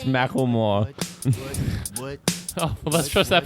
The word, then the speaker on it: Macklemore: It's Macklemore. Oh, well, let's trust that pronunciation because they thought it was cute and decided to put it in a song.